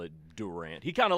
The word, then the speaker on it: Durant: If you ever hear me pronounce Durant as Durant, send me for an evaluation. Because that is Durant.